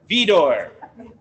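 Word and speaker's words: Widor: takata by charles marie vidor with a w but it's pronounced with the v okay got it um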